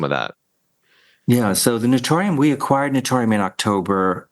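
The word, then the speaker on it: Naturium: And you mentioned, I think you said Notorium. Is that how you pronounce it?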